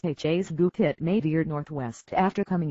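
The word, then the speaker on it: Hagupit: for herit the US agency said H gupit pronounced ha's gupit May Veer Northwest after coming England and sweep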